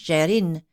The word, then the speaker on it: Gerin: Clair said it was French and pronounced Gerine, though it is spelled Gerin."